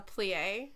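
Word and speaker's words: plié: A plie? No, it's different because it's like focusing. It's pronounced play.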